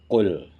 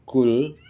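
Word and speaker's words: قل: Kalau pakai qaf, qul. Kalau ada kita yang membaca atau ada kita yang mendengar orang yang membaca, dibacanya kul, ka biasa, kul, maka artinya nanti akan berbeda.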